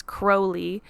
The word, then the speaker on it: Crowley: occult practitioners is Aleister Crowley which I think when you're pronouncing it properly it's Crowley was a part of